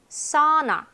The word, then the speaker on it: sauna: 그다음에 사우 아니에요. 턱을 아래로 쫙 떨어뜨리는 느낌이야. sauna.